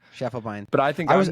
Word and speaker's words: Schiefelbein: You know, you got the attitudes correctly, but I say my last name I say Shufflebine. Shufflebine.